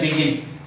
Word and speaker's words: begin: Here begin. Begin. Begin. Okay. Begin. Begin. Begin. Begin. So listen. There are two syllables, and the second syllable is prominent one. Second syllable is pronounced louder than the first syllable.